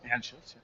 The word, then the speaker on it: Anschutz: JD was a founding team member and EVP of Network Live, the multi-distribution platform created by AOL, SiriusXM, and Anschutz, did I pronounce that right? Anschutz, yeah.